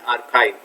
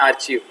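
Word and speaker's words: archive: ऐसी जगह को हम कहते हैं आर्काइव। ठीक है, ध्यान रखें, बहुत लोग उसका प्रोनाउंसिएशन करते हैं आर्चीव, बट ये आर्काइव है, आर्काइव।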